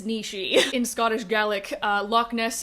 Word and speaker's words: Loch Ness: in Scottish Gaelic uh Loch Ness is pronounced Loch Nish so Nishi as both